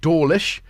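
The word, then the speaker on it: Dawlish: Um in Dorish, which is spelled like digital audio workstation. If you drop the L, which they should, it would be doorish.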